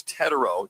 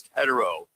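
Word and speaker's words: Tetairoa: I like how his mom, it's Tetero, just for all those that are out there, not Tet, it's Tetero. So you get the correct pronunciation of his name.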